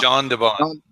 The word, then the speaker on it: Jan de Bont: Is it Jan de Bont or Jan de Bont? Jean de Bont. Jean de Bont.